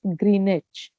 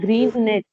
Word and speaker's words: Greenwich: Greenwich. GR. It's which नहीं कहते हैं, Greenwich. W is silent. Greenwich.